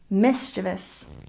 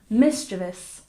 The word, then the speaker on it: mischievous: first syllable miniature miniature and number 14 mischievous stress the first syllable mischievous mischievous one more time mischievous very good and number